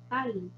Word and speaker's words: tal: Tal. Olha como que ele é pronunciado. Quando a gente está em espanhol, esse L é sempre bem forte.